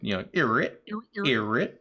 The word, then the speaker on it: Eret: Yeah, Eret. Eret? That's the way I was always told. It sounds like the sound a DJ makes when they skip, Eret.